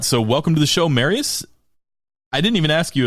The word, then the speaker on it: Marius: welcome to the show marys I didn't even ask you if that's how I pronounced it that is their correct way to pronounce your name right yeah Marius okay perfect well what thank